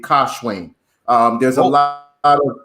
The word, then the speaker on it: Kash-Wayne: up as a child well um it's actually pronounced like um the in like in in pakistan they would say kashwing um there's a lot of indian influence in